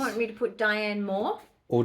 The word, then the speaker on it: Dyan: in this art exhibition, you pronounce my name Dyan. Yeah. It is spelled D-Y-A-N. Yeah. Like Dyan Cannon, the actress, because obviously my father thought he was a hot blonde.